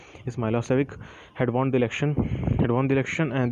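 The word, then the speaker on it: Milošević: A narrow-minded Serb nationalist Milos Vekic, pronounced Milosevic, had won the election, and this government was very hostile to the Kosovo Albanians.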